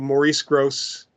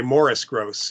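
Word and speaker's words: Maurice Grosse: But I spoke to Maurice Gross, I should say Morris Gross is the way he pronounced it, many years ago,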